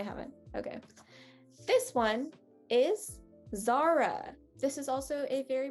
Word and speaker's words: Zara: is zara uh again the a is very difficult um but that's going to be a very very soft and light a it's going to have a lot of air in it um because it's at the front of the word see how notice how